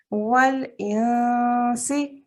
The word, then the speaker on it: والإنس: Okay, so you did actually say it correctly, but you need to move your tongue further back. Don't let your tongue touch anywhere. So try that again. والإنس.